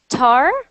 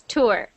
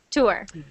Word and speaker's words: tour: t sure good good I heard uh tar I think I heard tar but that what you said right now is perfect maybe I can read once in one way second time in another way and now in third way I can say good you're right it's tour tour successful good successful so